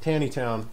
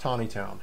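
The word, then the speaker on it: Taneytown: Town here it's not Tanny town for those of you watching from out of town here it is pronounced Tiny Town so all of this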